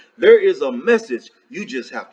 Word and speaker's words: Ai: The first one is Ai. I guess you would pronounce that I.